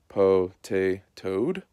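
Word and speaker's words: Potatoad: And then here is the way it's supposed to be pronounced. Po-tay-toad.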